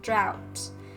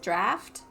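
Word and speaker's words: draught: and I was like, isn't it pronounced draft and then Pon says draft of lucidity? Or is is that one of those words that's like pronounced differently based on what country you're in? Um, I thought it was draft.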